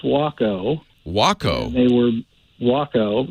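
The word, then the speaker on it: Waco: is we'll see well letter for now it's pronounced wacko wacko they were walk out they were made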